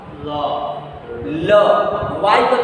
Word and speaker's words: le: Le. Why you are pronouncing le? Because I told you final will be pronounced when word is 1 syllable.